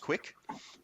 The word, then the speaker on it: QUIC: it called a Qi quic pronounced pronounced quick and it effectively just